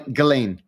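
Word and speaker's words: Ghislaine: Galain. Galain. I can never pronounce Gain.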